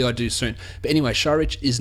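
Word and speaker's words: Šarić: Dario and his family I've been mispronouncing your Sur I found out today and I should have corrected this earlier it's shich sh you pronounce it shich it sounds like I'm just taking the piss but Dario sharich it's going to take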